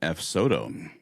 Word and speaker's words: Ayuso: up is Juan A- I always get his name wrong. Ayuso. A- I think they want to say Juan Ayuso.